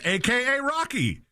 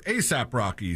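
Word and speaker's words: A$AP Rocky: Williams, the English commentator said, "I think that's AKA Rocky." Oh my god. So, he said the name wrong and had the wrong person. So, before quickly correcting himself and saying or ASAP Rocky, sorry.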